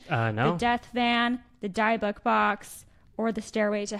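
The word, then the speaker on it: dybbuk: Kevorkian's death fan, the Diebuck box, I think is how you say it, Diebuck box, which is a box that like has spirit inside, and the stairway to hell.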